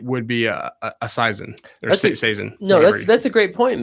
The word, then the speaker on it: Saison: to take a chance on what a Sison is, or they sure don't know how to pronounce it, because I know we're Saison.